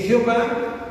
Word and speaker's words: Jehová: Bueno, es que Jehová es una pronunciación latinizada, porque es cuando nosotros aprendemos a leerlo como se escribe.